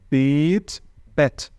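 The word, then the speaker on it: Bett: alemão é b agora a palavra cama em alemão é Pet muda completamente o sentido o que que eu vejo nós fala antes do português temos a mania de pronunciar essas duas palavras de maneira Idêntica ou a gente fala bits para os dois ou a gente fala bets para os dois tá mas não é Beats e aqui eu tenho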